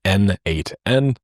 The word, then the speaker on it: n8n: that it means node mation and it is pronounced as n8n apparently the reason why was he just didn't